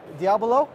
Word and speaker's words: Diabolo: do you say is it Diablo is it Diavolo what is the proper pronunciation yeah Diablo yes I'm just a geek meiotic same Diablo